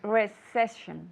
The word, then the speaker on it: recession: say in English recession refession no recession I see recession recession with the first s yeah your tongue should be touching your bottom teeth yeah and then the sh it has to be Flaco yeah so recession recession